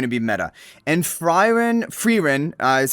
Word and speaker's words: Frieren: And Frieren Frieren, is how you pronounce it, is one of the most fan favorite, most popular anime of all time currently.